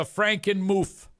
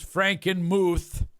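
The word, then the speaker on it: Frankenmuth: writes what the is a Franken moof uh the correct pronunciation is Franken M that is a community in the area well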